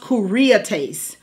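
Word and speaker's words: κυριότης: Now, and when you get over to the New Testament, there's another word for government, and it's pronounced kuriates, and it means mastery.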